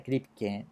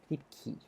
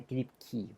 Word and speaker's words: Kripke: Que todo esto, uno en español lo pronuncia Kripke, pero en inglés es Kripke. Es como la última E, es como una I, ¿de acuerdo? Entonces, se pronuncia Kripke, pero me da lata pronunciarlo así.